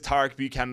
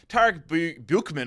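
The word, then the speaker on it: Tarek Buchmann: And when I say cashing in, it's because Tarek Buchanan, I think I said Tom. Tarek Buchman, oh my god, I've had a world-class stinker.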